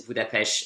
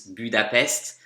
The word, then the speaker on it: Budapest: So the only mistake here is that he says Budapest and in French it's Budapest, but he's perfect with the prepositions.